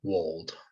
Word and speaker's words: wold: But it was also kind of like to rhyme with mold, which is it's kind of like the world, but it's like my own kind of perspective of it. So I called it wold.